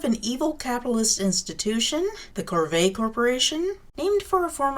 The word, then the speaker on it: Corvae: evil capitalist institution the corvae corporation named for a form of slavery from feudal society basically evil ruler authoritarian people who will enslave you the way it's pronounced also remind people of corvus which is a family